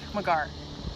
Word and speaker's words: McGarrah: McGarrah. Which is not how it's spelled at all.